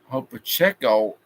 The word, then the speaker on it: Pacheco: Pacheco is how it's pronounced. He is close to a first down. So it's second and inches at the 39-yard line at least. Another good run. Play Pacheco, whatever is how you pronounce it.